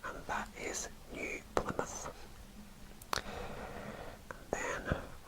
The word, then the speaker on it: New Plymouth: called e plymouth and there is actually a place in the united kingdom called plymouth so that was easy to pronounce some of these names